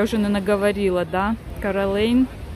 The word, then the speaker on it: Coeur d'Alene: уже, наверное, говорила, да, Каролейн. Пишется через D, да, и мы привыкли Кардален, Кардален, но американцы они не произносят, потому что это французское слово, и они как Каролейн его без D произносят.